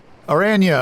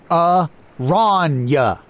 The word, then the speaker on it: Aranya: "Aranya, over here," I said for the 10th time. "It's Aranya," she said, grunting each syllable. "Try to get it right."